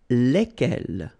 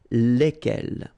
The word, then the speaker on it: lesquels: And it will give you the pronunciation lesquels, all right? So final S is not pronounced.